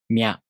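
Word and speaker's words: みゃ: To pronounce Mya, you first make the tongue position of the Mi consonant. Then the tongue moves into position for the A vowel. Mya.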